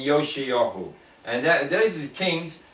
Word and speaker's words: Yoshiyahu: So they spell it in English Josih, but it's Yeshayahu and Yoshayahu. Yeshayahu and Yoshiyahu.